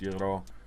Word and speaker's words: gyro: And then gyro. Spelled gyro. G-Y-R-O. Spelled euro. Well, pronounced euro.